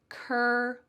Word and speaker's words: curl: It's going to be two separate syllables. Cur, this sounds like her book. Cur, and then we're going to add curl.